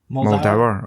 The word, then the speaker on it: Muldaur: Muldaur.